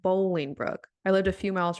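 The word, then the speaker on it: Bolingbrook: The city is not Boiling Brook. It is pronounced Bowling Brook.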